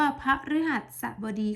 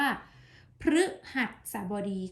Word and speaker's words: พฤหัสบดี: คำ ว่า พระ ฤหัสบดี แต่ คำ นี้ เรา จะ อ่าน ออก เสียง ได้ 2 แบบ จะ อ่าน เป็น คำ ว่า พระ ฤหัสบดี ก็ ได้ หรือ อาจ เป็น คำ ว่า พฤหัสบดี ก็ ได้ นะ คะ แต่ ส่วน มาก เรา